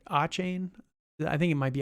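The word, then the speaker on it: Achane: pronounce his name it's a chain yeah it's a chain so it is oh so it is CH sound all right great um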